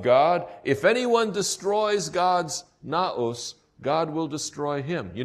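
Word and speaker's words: ναός: I'm not using the Greek letters here, using the English letters, so you can pronounce it. It's naos.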